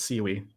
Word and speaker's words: SIWE: they're called they're calling it they're saying it's pronounced seaweed so I don't think I can get used to that man yeah generate nonce from seaweed all right so we're going to create a